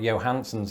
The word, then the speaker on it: Johansson: have a lot of scandinavian players who pronounce that j as a ya sound but here you pronounce it differently scarlett johansson and i'm